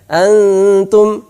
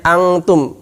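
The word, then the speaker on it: أنتم: Ini bukan bacanya angtum, bukan banyak yang baca dengan ng, sehingga dia malah persiapan kaf. Harusnya persiapan ta, antum, bukan angtum.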